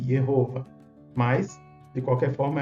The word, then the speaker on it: Jehova: divino aqui como jehova a gente pronuncia aqui com som de J né sabemos que em alemão é o som de i jehova mas de qualquer forma